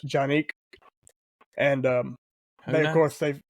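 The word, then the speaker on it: Canik: they did one on canic it's a Turkish brand actually pronounced Janik and um of course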